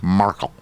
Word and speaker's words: Markle: So you emphasize the A? Markle.